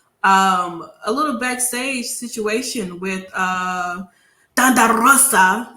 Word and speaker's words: Rosa: But before this match even happened, we did get to see a little backstage situation with Rosa, as I like to say her name like that because roll your R's.